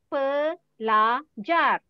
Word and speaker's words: pelajar: P-E. Okay? Sound is per. P-E, sound is per. Okay? Read per. L-A. The spell is L-A. The sound is la. Read it la. La. Okay. J-A-R. Spell is J-A-R. The sound is jar. Jar. So read. Pelajar.